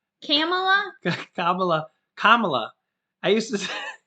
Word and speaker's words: Kamala: kamala and andrew yang it's not kamala oh yes kamala kamala now what's the trick that you taught me think of comma yeah kamala i used to say kamala kabala kamala i used